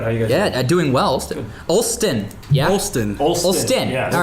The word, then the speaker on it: Olstyn: Olstyn.